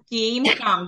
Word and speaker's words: come: в нас це Come come да пам'ятаємо що Це неправильне дієслово і дуже важливо запам'ятати що коли є літера О то це А вимова а літера a да